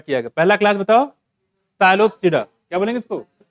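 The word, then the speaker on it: Psilopsida: पहला क्लास बताओ, साइलोप्सिडा, क्या बोलेंगे इसको? साइलोप्सिडा। पी यहाँ पे साइलेंट है, क्या है? पी साइलेंट, ये देख रहे हो यहाँ पे।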